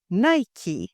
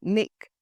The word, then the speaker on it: Nike: to conduct our research the company Nike pronounced as Nike not Nick or anything else so the new Nike